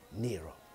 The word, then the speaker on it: Nyro: quindi lo modifica leggermente toglie la g mette una ypsilon al posto della iii e per tutti diventa allora nero nel 1966 suo padre